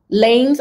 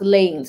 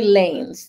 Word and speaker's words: Lanez: to treat them as lames okay thank you it's pronounced lanes okay tory lanez thank you so much for that correction i don't see how